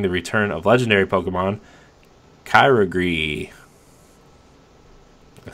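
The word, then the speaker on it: Kyogre: raid battles including the return of legendary Pokemon Kyra Gris I said that right right yep I got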